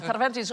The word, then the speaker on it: Cervantes: No, Cervantes was a buying agent for the Spanish Armada. Very good pronunciation of Cervantes.